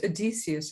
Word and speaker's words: Odysseus: There is Odysseus, I think is how you pronounce it, who is doing his job.